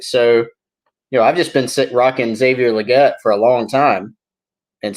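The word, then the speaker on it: Xavier Legette: And when he said it, I observed him saying his name to somebody, and he said Xavier Luedecke.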